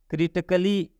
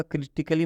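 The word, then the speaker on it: critically: यहाँ पर है क्रिटिकली, मतलब यहाँ पर ए साइलेंट है, ए का उच्चारण नहीं होगा।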